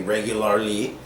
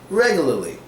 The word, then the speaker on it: regularly: We don't pronounce the last R. We don't say regularly. We say regularly because it's much easier that way, and almost all Americans say it like this.